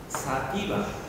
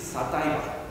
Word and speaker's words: sativa: Sativa in English is sativa. So sativa is a different word.